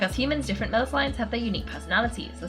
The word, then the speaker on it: Melusine: Oh, Melusine. Melusine makes more sense.